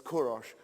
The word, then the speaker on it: Kourosh: then our Cyrus and we mispronounce it but it's kourosh Kadosh the great didn't